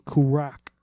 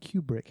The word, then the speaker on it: Kubrick: The Shining by Stanley crack I'll tell you actually pronounced it's a Kubrick it's karach oh it's